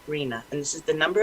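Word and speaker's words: RHNA: regional housing needs allocation and we pronounce it rena and this is the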